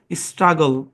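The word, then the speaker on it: struggle: হ্যাঁ, কনসোনেন্টের পরে যদি LE থাকে, তাহলে কনসোনেন্টের সাউন্ডটা অর্ধ আকারের সহযোগিতা নিয়ে এল এর উপর পড়বে, শেষে এটা সাইলেন্ট, তাহলে গল, এরকম। আর প্রথম অংশের উচ্চারণ স্ট্রাগ। হ্যাঁ, একই কনসোনেন্ট দুইবার থাকলে একবার ধরে উচ্চারণ করতে হয়। সুতরাং সব মানে হিসাব নিকাশ মিলানোর পরে এই শব্দের উচ্চারণ দাঁড়ায় স্ট্রাগল। কি উচ্চারণ ভাই?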